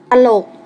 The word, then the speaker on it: ตลก: สังเกต กัน นะ คะ เวลา อ่าน จะ อ่าน เหมือน มี หอ หีบ อยู่ ด้วย เช่น คำ สั่ง อื่น อ่าน ว่า สั่ง น อื่น ๆ ตลาด อ่าน ว่า ว่า ตลาด ตลก อ่าน ว่า ตลก ตลาด